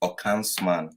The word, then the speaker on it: Okonsman: By the way, the name is pronounced Okonsman.